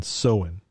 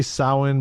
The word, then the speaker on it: Samhain: like so sow our s-o-o-w-e-n sew-in oh slowly soda like what some some say samhain but it's so in the festival and that's always pissed